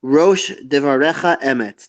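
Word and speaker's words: ראש דברך אמת: Rosh devarecha emet.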